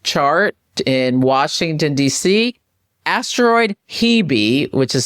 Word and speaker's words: Hebe: Asteroid Hebe, which is spelled H-E-B-E, is conjunct the ascendant.